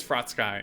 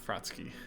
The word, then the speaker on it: Frostsky: Athol Yura thought but it is fraught sky and not fraught Sookie like I always say